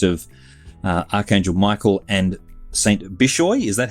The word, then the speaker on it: Bishoy: Bishoy is that how you pronounce it yes rolled out a Coptic Orthodox